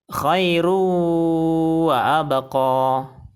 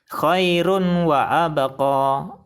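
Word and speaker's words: خير وأبقى: Bacaan yang benar adalah khairu wa abqa. Khairu wa abqa. Kesalahan baca yang pertama adalah khairu wa abqa. Salah. Karena bacanya harus disertai dengung. Kesalahan baca yang kedua adalah khairun wa abqa.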